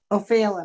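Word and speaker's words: Ó Faoláin: O'Fallon, I think it's pronounced.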